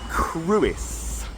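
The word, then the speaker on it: Crwys: Uh and we're going to start yeah with this then it's called the cruis.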